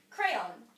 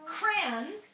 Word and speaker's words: crayon: just like he did no I had two syllables in my two syllables the ending was still that yeah yeah so crayon me and Katie are this blue one blue really yeah so we're like all throughout here cran in one syllable is green I have